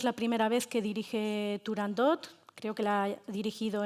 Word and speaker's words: Turandot: la ópera perfecto, dice Turandot y no como lo pronunciamos los ingleses. Pucini fue claro. La t al final de la palabra no debería pronunciarse.